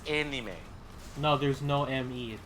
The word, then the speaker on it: anime: Well, no, not anime. It's anime. What? Like, literally, AE is pronounced like A or eh, kind of. Yeah, that's what I said. So it's anime.